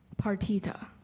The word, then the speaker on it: partita: Partita.